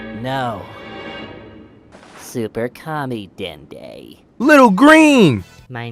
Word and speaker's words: Dende: it will say my name no super commie dende little green my name is den de I